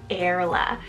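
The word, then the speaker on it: Airla: this one it's the name airless well a-i-r-l-a erla this is such a sweet very cute sounding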